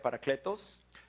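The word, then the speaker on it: παράκλητος: defensa esta palabra legal en el griego se pronuncia para créditos es la misma palabra que cristo utilizó para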